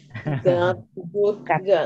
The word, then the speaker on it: God: Artinya Tuhan, beda dengan kata good ya, Bapak Ibu. Ini good, ini God. God. Blessings of God. Almighty ya, ini God Tuhan. Kalau yang good itu baik atau benar ya. Ini dibacanya God.